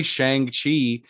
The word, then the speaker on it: Shang-Chi: of because we like i say i say shang chi in because i'm from texas and that's just the way that like i pronounce things and i have to be deliberate